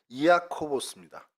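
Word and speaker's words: Ἰάκωβος: 그러니까 정확히 얘기하면은 이아코보스입니다. 그 헬라어로는. 그래서 야곱을 헬라어로 발음하다 보니 이아코보스가 됐죠.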